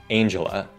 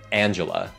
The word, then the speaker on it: Angela: Diễn viên này, mẹ của Black Panther ý, thì nhìn tên cô ấy giống như Angel. Nhưng nó không đọc là Angela, mà là Angela.